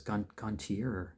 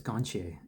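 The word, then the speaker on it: Gontier: But I've heard with um Adam Adam Gonier and the way you say his name, I thought it was Gantier. Gonier Adam Gantier. It's Gonier.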